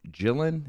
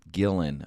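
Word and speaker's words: Gillan: off same yeah yeah uh karen jillian is that how you pronounce that every time gillen okay karen gillian's in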